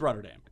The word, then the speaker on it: Rotterdam: Why did we not hear that right off the top when you mispronounced Rotterdam? It is Rotterdam. What'd you say? You said it some German-eccentric way. Yeah, I said Rotterdam.